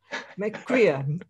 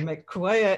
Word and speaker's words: McGuire: And I hope you enjoy also this session, which I have with your McQuire. He said in Irish. That's the Irish pronunciation, exactly. Yeah, McQuire in English.